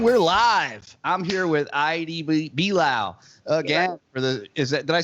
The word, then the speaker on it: Idee: I'm here with Idee Belau again.